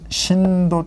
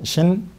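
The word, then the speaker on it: שׂין: 같은 글자인데 점의 위치가 여기에 있으면은 이건 쉬 발음이 되고 점의 위치가 이 왼쪽 끝에 있으면 신. 요거는 시옷 발음, 이거는 쉬 발음. 이거는 S 발음, 이거는 SH 발음.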